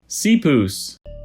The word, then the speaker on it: seapoose: Seapoos.